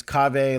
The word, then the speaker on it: Kaveh: when they ask how to pronounce my name, I'm like it's Cave, like how you might say cafe latte, but with a V, like cafe, like and that, I feel like that, or agave too is the other one.